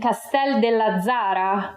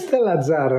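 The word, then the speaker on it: Castell'Azzara: Today we're here in Castel della Zara, province of Grosseto, with Ron Banzol. Am I correct in the pronunciation? It's Castella Zara, non c'è il del.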